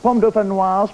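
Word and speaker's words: dauphinoise: Dolphin. I think it's doofen. Dofanoir. Pom doofenoir, please.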